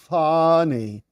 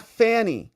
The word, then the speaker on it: Fani: racist bigot also and say her name properly okay it's called fny not Fanny okay just to be